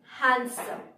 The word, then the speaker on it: handsome: কিন্তু দেখো স্পেলিং এ আছে হ্যান্ডসাম, তাই আমরা বলি হ্যান্ডসাম, কিন্তু এখানে ডি হচ্ছে সাইলেন্ট, তাই ডি এর প্রনাউন্সিয়েশন হবে না। Slight difference, handsome, handsome.